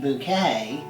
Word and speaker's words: Bucket: She played Hyacinth Bucket, pronounced bouquet, in the British comedy series Keeping Up Appearances.